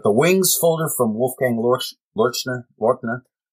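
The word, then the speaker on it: Loerchner: It's not Lorchner, as I thought for so many years. It's Lorchner because he pronounces that way. Okay. But the Wings folder from Wolfgang Lorchner.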